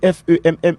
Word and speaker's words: femme: Premièrement, li écrit FEMME le prononcer femme.